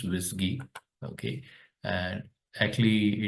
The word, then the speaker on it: WSGI: of flask now what is a wisy toolkit wisy toolkit stands for wsgi PR pronounce wisy okay and actually it's the name work and